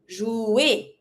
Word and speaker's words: jouer: To play, jouer. Because ER together makes it sound E. So even if I'm not pronouncing the R on its own, it has an impact on my sound.